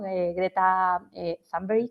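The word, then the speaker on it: Thunberg: la pobre greta no greta zber que es como se pronuncia por lo visto su nombre Creta tumber eh que parece que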